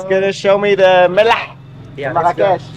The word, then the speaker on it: Mellah: He's gonna show me the Melah. Yeah, let's go. Marrakech. Now I say it correctly. Melah. Yeah, the Mela. Melah. Yeah. It's like salt in Hebrew.